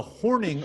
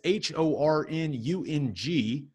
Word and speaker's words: Hornung: The Horning Award, that is Hornung.